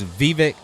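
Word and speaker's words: Vivek: that is oh I got the correct uh pronunciation of uh the king's owner you got it yeah it's Vivic Rad Rad sorry about that Vivic yeah say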